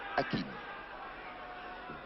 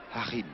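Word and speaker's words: Joachim: Le numéro 11 allemand, Streich Hakim. Harim plutôt. En Allemagne, ça se prononce Harim.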